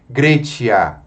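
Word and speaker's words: Graecia: Grecia. Veja, ditongo a E nós pronunciamos com a vogal E.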